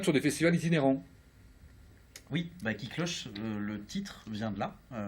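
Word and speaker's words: Kiklosoche: Oui, Qui Cloche, le titre vient de là.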